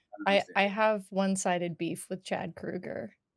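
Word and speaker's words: Kroeger: have one-sided beef with Chad Kruger. It's Kruger apparently. Is it like Freddie? Yes, apparently that's how it's Okay. pronounced, and I learned because I may have said potentially that Chad Kroger looks fucking old now,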